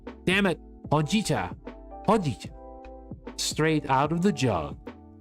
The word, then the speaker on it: Hojicha: And here's your iced ho hoa. I keep saying it wrong. Damn it. Hitta. Hojicha.